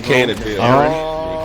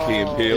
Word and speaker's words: Key and Peele: You never seen Keen and Peele with the fucking dude like mispronouncing the name? It's Keen and Peele. Key and Peele.